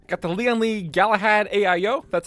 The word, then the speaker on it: Galahad: ryzen 5 5600 x got the leon lee galahad aio that's how you say it as well